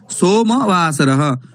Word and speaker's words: सोमवासरः: भानुवासरः सोमवासरः न सोम एवं न सोमवासरः। म इति वर्णस्य अ इति वर्णस्य उच्चारणम् आवश्यकम्।